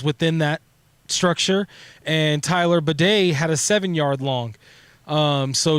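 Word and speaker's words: Badie: 10-yard plus runs within that structure, and Tyler Bidet had a 7-yard long. So to Mike's point or Illy's point, yeah. Bidet? Yeah, that's how you say his name. Batty? No, it's Bidet.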